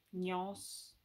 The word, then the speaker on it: Gnoce: Come si pronuncia? Gnos. Scritto Gnoce. Gnos, penso.